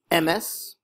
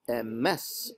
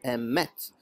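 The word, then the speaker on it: אמת: he meant was that they pronounced the word for truth as MS or Emmet instead of a mess or a met they put the accent on the first syllable which is called Miller L instead of on the last syllable which is called Miller raah it is extremely important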